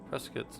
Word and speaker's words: Prescott: Yeah, Prescuit's not too far. Or Prescott. People say it like that up there.